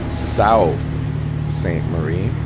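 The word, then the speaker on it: Sault Ste. Marie: on our way to what I learned today is pronounced South St Marie this little town here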